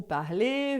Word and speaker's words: parlez: A mesma coisa se tiver depois um Z. Então, vous parlez, vous mangez, vous étudiez. O Z a gente não fala e o E a gente pronuncia assim, como Saint-Tropez, por exemplo.